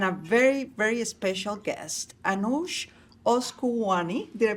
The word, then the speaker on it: Anoosheh Oskouian: I have the privilege today of having my co-host, Andrea Sai, and a very, very special guest, Anoosheh Oskouian. Did I pronounce it correctly?